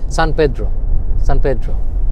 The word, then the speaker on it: San Pedro: আরো no pronounce এটা হচ্ছে সান পেড্রো।